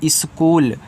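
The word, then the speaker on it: school: सा सी से का एच यहां पे इसका का उच्चारण नहीं होता। डबल ओ दिया है तो बड़ा ऊ कर दोगे।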